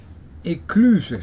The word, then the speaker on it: écluse: Écluse staat hier. Écluse. Écluse. Oh, de E spreek je niet uit. Tenminste, de laatste E niet.